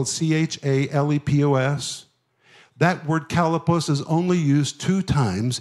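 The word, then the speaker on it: chalepos: The word perilous is the Greek word kalepos. If you're taking notes, you spell it C-H-A-L-E-P-O-S. That word kalepos is only used two times in the New Testament.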